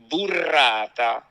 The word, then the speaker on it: burrata: I'm going to pronounce it in a very Italian correct way. So I'm going to roll my R's and all that. All right? I have to do it burrata.